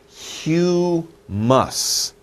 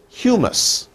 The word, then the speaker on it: humus: use for it it's a little hard to pronounce but look at this word it's humous hue hue mus two sounds two sounds hue mus humus so we say humus that is the mix